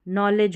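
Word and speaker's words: knowledge: फिर है नौ ले और ज नलेज हो गया। ये जो के एन है ना इसमें के साइलेंट है।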